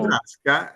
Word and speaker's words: Brasca: Brasca, Oh, sì, no, sì, no. è piana, quindi Brasca si pronuncia così.